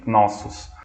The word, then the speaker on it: Knossos: se escreve com K, pode ser Knossos com K ou com C, mas a pronúncia é a mesma, Knossos.